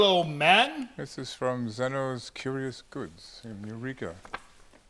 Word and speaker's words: Zeno: This is from Zeno's Curious Goods in Eureka. Zeno is the way I would pronounce that.